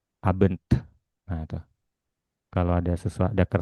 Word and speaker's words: Abend: Huruf D dan T di akhir kata tetap harus dibaca. Jadi, bukan "aben," pengucapannya tidak hanya berhenti di huruf N, tetapi ada hembusan udara, pantulan di bagian akhir. Ab abent.